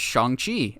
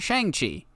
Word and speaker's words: Shang-Chi: the upcoming Shang Chi movie, which it's actually pronounced Shang Chi and not Shang Chi.